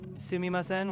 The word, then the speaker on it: Sumimasen: Sumimasen. Perfect. Sumimasen was spot on. Now, how would you say I would like this when pointing at something? I think it was... we only just learned that today. Sumimasen, ko ii desu ka?